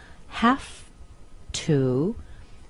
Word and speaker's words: have to: you how this works when you have the word have as a main verb it's always pronounced have but once we put it in different situations as it is here we can change it and in this case we've got a modal half to is a modal or